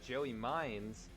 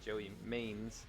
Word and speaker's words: Joey Mines: There's another driver here who I pronounced the name incorrectly last week. That is Joey Mines. I was saying Joey Maines.